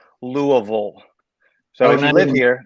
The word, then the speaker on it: Louisville: So, and by the way, that's how it's pronounced. It's Louisville. So if you live here, that's how you say it. But if you don't live here, you call it Louisville or Louisville.